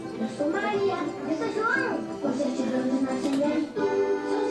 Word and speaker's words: João: So it's a good thing João rhymes with cidadão, or else that baby would fall apart.